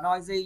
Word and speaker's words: noisy: Các bạn đọc là noisy nha, noisy. Rồi từ hai vần nhấn vần lớn hơn. Nhấn vần 1 các bạn.